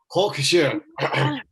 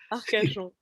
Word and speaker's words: Arcachon: Now, Lise is going to kill me for my French pronunciation with Hawkshire. Hawkshire? I can't say it. Arcachon. That's right. Arcachon, it's a tough one. It's got lots of R's and French sounds.